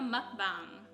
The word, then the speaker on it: mukbang: teacha explain what she's eating we're doing a mukbang is that how you say it yes and